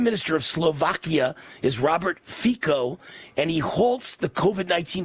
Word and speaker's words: Fico: Slovakia's anti-globalist Prime Minister Robert Fico, I assume it's pronounced F-I-C-O, Fico, has announced a temporary